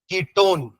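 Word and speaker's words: ketone: ए ड इसमें अल कीटोन ओन वन नहीं बोलना ना स्पेलिंग भले वन है बट बोलते ओन है है ना ना किट वन हो जाएगा ठीक है पर वो कीटोन है ठीक है फिर आपका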